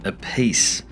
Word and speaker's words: Appice: conversation with Carmine Appice, and I believe that's how you pronounce his surname. I'm sure somebody will jump on it and tell me that it's not, but I think all three prominent members of the Appice clan pronounce their surname differently.